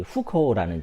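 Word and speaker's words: 户口: 더불어서 KBS에서 다루지 않아서 제가 좀 황당했던 부분이 중국에 있는 이 후커우라는 제조입니다. 후커우를 한국식으로 읽으면 호구라고 읽는데요.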